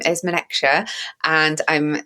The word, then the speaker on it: Menekse: So my name is Menekse, and I'm saying that because just from a pronunciation point of view, I always make sure that I give people the opportunity to hear it.